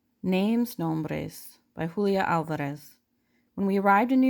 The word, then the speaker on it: Alvarez: our name to myself, opening my mouth wide for the organ blast of the ah, trilling my tongue for the drum roll of the R. Alvarez.